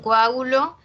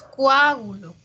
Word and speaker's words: coágulo: En coágulo, separamos la O y la A, ¿ya? No es coágulo, coágulo con U no es.